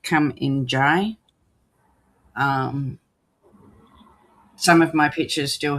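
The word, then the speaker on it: Kumanjayi: So her name was changed to, I think it's pronounced Come In Jai.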